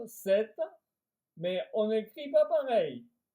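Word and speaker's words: sept: Alors le 7, on prononce 7 mais on écrit pas pareil, on écrit S e P t.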